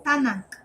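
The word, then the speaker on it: תנ״ך: It's not Tanakh, it's Tanakh.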